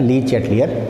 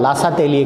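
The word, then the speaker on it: Le Chatelier: Changes होते हैं वो कहलाता है ली-चैटलियर प्रिंसिपल। हिंदी में बुक्स में लिखा होता है लासा-तेलिए का नियम, वो गलत प्रोनाउंसिएशन है, वो हिंदी कर दी गई है उसकी।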